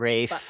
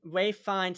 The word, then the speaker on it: Ralph Fiennes: We keep mentioning Ralph Fiennes and Jack O'Connell, who are amazing, but Rafe. I need Ray Fiennes. I keep fucking saying it wrong.